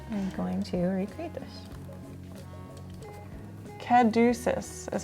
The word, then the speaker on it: caduceus: Caduceus is how you pronounce it.